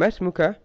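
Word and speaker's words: ما اسمك: And masmuka is really ma followed by ismuka. And this alif in the word ism is not an alif that's pronounced unless you are starting speech from that letter.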